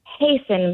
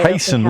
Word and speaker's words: hasten: Hasten, but I'm an American. So Hasten with no T. There's no T in it.